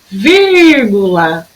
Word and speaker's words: vírgula: Olha lá o acento em vírgula. Ela é a última desse lado aqui, ó. Então a gente tem as sílabas, são 3 sílabas. A última, a penúltima e a antepenúltima. Sílaba tônica é a antepenúltima.